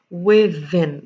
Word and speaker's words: within: you say that as within you pronounce the z sound over here that is within